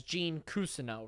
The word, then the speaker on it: Gene Cousineau: episode 69 I corrected Mac on how to pronounce the name Gene Cousino yes most characters on this show pronounce the name as Gene Cousino right he pronounced it as Gene cousin now